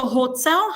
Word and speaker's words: hotel: So, hotel has its own stress on the second syllable.